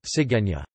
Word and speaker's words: cigüeña: A diéresis U indicates that it is not silent as it normally would be, e.g., sigueña.